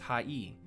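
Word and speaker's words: はい: to pronounce it properly this word sounds like high or high however remember how I sounds like II the word high is actually pronounced high E but since Japanese is a language spoken at a rapid pace the syllables tend to merge a general rule of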